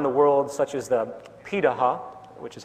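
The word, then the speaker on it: Pirahã: hunter-gatherer societies around the world such as the piraha which is how its pronunciate it out of Brazil amazingly it appears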